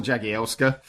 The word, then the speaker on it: Jagielska: The main reason that I haven't done it is because I have no idea how to pronounce Jagielska. It's Jagielska.